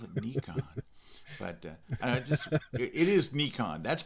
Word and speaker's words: Nikon: But you, I know for a fact, a long time ago you used to shoot Nikon and now you shoot Canon.